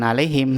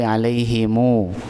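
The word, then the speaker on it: عليهم: Jadi, kita bacanya alai bukan alaihim tapi alaihimu. Dibaca dua harakat. Jadi, seolah di belakang mimnya itu mim sukun itu ada wau ee disilah disambung dengan wau sukun.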